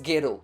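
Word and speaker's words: ゲロ: dire embrasser sauf que get on avec l'accent japonais se prononce ghero qui signifie vomi sachant que chou veut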